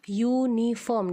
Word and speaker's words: uniform: Contohnya, uniform tapi dibaca uniform, dimulai dengan huruf y.